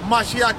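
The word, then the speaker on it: מָשִׁיחַ: A Mashiach in the Hebrew, how you say it in English is Messiah. In the Hebrew, how you say it is a Mashiach.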